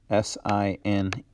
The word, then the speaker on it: sine: is sin, but it is really short for sine, and is pronounced sine, not sin. Sin's what you deal with at church. Here we're going to deal with sine. And then cos, C-O-S, is not cos.